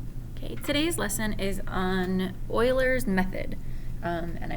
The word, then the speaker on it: Euler: today's lesson is on euler's method um and i know it doesn't look like that says euler but that's how you pronounce his name um so what this